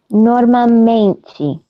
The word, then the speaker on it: normalmente: Normalmente. Muito bom. Normalmente. Be careful with the L. Normalmente. Muito bom. Muito bom. Casa, menina, normalmente. Pretend there is no L. Pretend there is a W or a U.